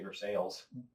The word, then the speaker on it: Versailles: It's spelled like Versailles. Oh. But they say Versailles.